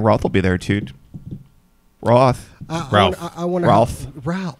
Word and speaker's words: Routh: It's like South. Good. I thought it was Roth. Like no, like it's moth. a big misconception. It's actually pronounced the same way South is. It's like Brandon Routh South.